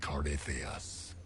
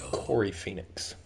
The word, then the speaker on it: Corypheus: The will that is Corypheus. Common mispronunciation is Corey Phoenix.